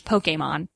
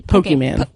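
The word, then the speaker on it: Pokémon: Actually, the correct pronunciation is Pokemon. Oh, okay. With the accent over the E. Pokemon.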